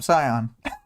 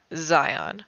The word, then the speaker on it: Zion: after I know that I just keep calling him Sion yeah I mean they sound very similar um I like went to make sure the pronunciation was actually different and it is just Z Zion with like a hard z um so Kevin is